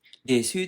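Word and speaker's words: です: Desu itu dibaca des ya. Kalau minasang di Jepang sini desu dibaca des ya. Ya walaupun kalau orang desa di sini biasanya desu ya dibaca desu juga.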